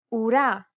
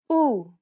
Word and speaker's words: ου: The last vowel sound for this lesson is Ου, ουρά, ακούω, καπελού, κουρούνα. This double vowel is pronounced like the double O sound in the word pool. Listen to how Stefania pronounces this vowel sound. Ου, ου.